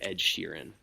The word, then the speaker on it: Ed Sheeran: And it's actually pronounced Inisherin. What did I say? Inisherin. I thought I said Ed Sheeran.